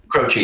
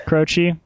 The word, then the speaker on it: Croce: Do you know how to pronounce that? Croce, yeah. Croce, because my dad spun his records for me